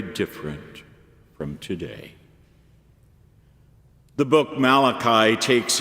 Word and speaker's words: Malachi: Malachi 3:1 says, "My messenger," which in Hebrew is literally pronounced Malachi.